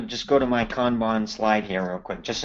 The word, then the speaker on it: Kanban: who asks, how would Kanban who Tim also suggested a pronunciation, Yep. Khan and then Ban, kind of the same way, Bhan. Yep. So how would Kanban work with multiple projects running at the same time?